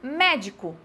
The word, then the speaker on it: médico: Por exemplo, médico, tá? Médico, eu tenho a sílaba tônica aqui, na realidade, é só essa daqui. O di e o co são sílabas átonas, tá?